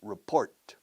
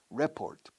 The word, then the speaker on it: report: Report. Report. Fíjate cómo es la segunda sílaba. No digas report, por favor, please. Report. Report.